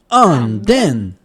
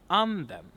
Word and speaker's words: anden: So here we have the word anden. Anden. Not anden, but anden.